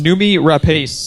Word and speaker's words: Noomi Rapace: Not sure exactly how to pronounce it. Jeff, help me out. Noomi Rapace? Noomi Rapace.